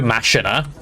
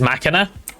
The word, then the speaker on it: machina: You know, every time I say machina, I have the temptation to go masher because like that feels like the way it should be pronounced, but no, in fact, it is machina.